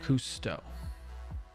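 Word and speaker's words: Cousteau: Last name pronounced custoto. Kusto.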